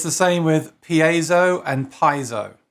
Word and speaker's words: piezo: same with piezo and piezo i got told off for saying paizo they said you must say piezo so now i say piezo all the time and now